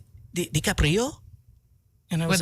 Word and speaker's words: DiCaprio: His name is pronounced DiCaprio.